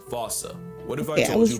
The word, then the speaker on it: fossa: But, if you follow the Attenborough rule, Sir David would have had you saying "fossa".